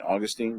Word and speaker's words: Augustine: to give up and call him St Augustine because I keep calling St Augustine based on way it's spelled but all my friends call him Augustine so okay we'll go with Augustine um here's another interesting